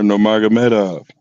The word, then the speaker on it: Nurmagomedov: Umar Nurmagomedov.